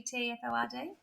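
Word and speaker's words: Thetford: He's 47 and he's from I think you'd pronounce it Teford in Norfolk. Schmidy. T H E T F O R D. Tford, I guess.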